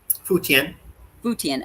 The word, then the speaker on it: Futian: Futian. Okay, so it just as it looks. Residents remain confined to their homes in the southern part of Futian district, but it says,